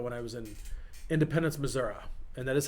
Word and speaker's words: Missouri: back years ago when i was in independence missouri and that is how you say it by